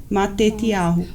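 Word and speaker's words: Matityahu: Então aqui tem o nome Mateus e aqui tem a pronúncia de como é Mateus em hebraico, Matetiahu.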